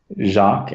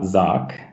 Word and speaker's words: Jacques: And for people doing Let's Plays of it, it is Jacques and not Zoc, as many people mispronounce.